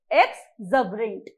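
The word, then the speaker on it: exuberant: मैंने बोला एक्सबरेंट, एक्सबरेंट, the correct pronunciation is एक्सबरेंट।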